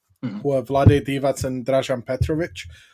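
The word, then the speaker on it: Dražen Petrović: are vlade divas and rajan petrovic um or as americans say drazen petrovic which you know gets on my nerves so bad like just go on google guys it's really easy um those two played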